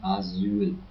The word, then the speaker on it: Asyl: And also when you spell one S, you pronounce it hard, like in Asyl, which means asylum.